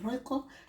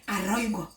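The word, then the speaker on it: Royco: How do you call roiko in your region?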